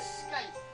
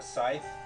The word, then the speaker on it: scythe: scythe? A scythe? That's like what the Grim Reaper has. Well, it's spelled S-C-Y. That's a scythe.